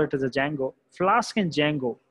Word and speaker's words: Django: are the two libraries D is silent here so we call it as a Django flask and Django right